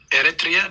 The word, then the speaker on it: Eritrea: Moving the program on, we'll go to Captain Eritrea. I'm assuming I'm pronouncing that right. We'll get a clarification on that. Captain, good afternoon. How do you pronounce that other part? Eritrea, that's the country I was born in.